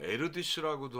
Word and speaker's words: Erdős: 폴 에어디슈라는 분이 계신데이 헝가리 발음이 우리 좀 어려워요. 뭐 에르디슈라고도 하고 하더라고요. 근데 저는 처음에 제가 본 책에 나온 에어디슈라는 발음이 좋은데이 에어디슈라는 분이 계셨는데 이분이 그 수학 천재였던 분이에요.